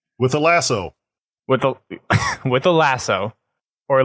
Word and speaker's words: Lasso: With a lasso, or Lazo as it's technically pronounced for Halo.